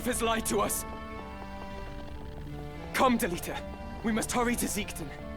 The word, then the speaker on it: Delita: You know, I think I also tend to pronounce Delita's name more like I'm strong bad, annihilating a stupid email from my inbox. He's not Delita, he's Delita. That might be an accent thing for me.